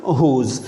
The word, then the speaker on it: who: of who is is whose and we should distinguish it that this is who you you should think that the w is silent over here in this one just like that who right and how uh